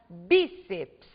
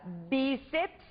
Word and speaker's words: bíceps: palavras é a palavra bíceps vejam vocês que nós temos aqui a sílaba tônica sendo a penúltima sílaba da palavra portanto a palavra bíceps é uma palavra paroxítona